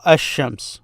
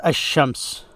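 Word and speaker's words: الشمس: So ash-shams. So when you hear someone reading, you will notice that they do not pronounce the L in it. This means it's a sun letter. So notice ash-shams.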